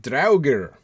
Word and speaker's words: Draugr: JJ was saying, how do you pronounce the word Draugr? D-R-A-U-G-R. Yeah, well, it would, the A-U would be an ow. Draugr.